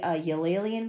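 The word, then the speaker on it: uilleann: me about I think I think in in in Irish I think it's pronounced ill pipes but I but some people say yleen pipes or whatever. I I think it's what it's supposed to be, but I think it's supposed to be pronounced ilen pipes, but I it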